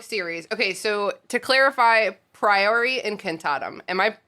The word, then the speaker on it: Priori Incantatem: okay so to clarify priory and cantatum am i pronouncing that the way that you guys pronounce it i uh i have a latin background not to brag so i go priory but that sounds better